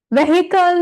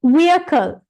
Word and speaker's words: vehicle: Police, and මෙතන man කියලා අපි තනියෙන් අරන් pronounce කරාට මෙතන pronounce වෙන්නේ man. Policeman, not policeman, police, right? Policeman. Here, vehicle නෙමෙයි, vehicle.